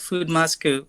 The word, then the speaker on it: Foodmasku: I always want to know how to pronounce usernames. You got it correct, Foodmasku.